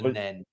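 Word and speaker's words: Nene: Yeah, for us round here, we call it the Neen at Oundle, but I think it's classed as the Nen round there. Oh, the Nen, yeah.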